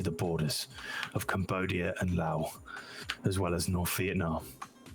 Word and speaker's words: Laos: Oh no, the correct pronunciation is the S.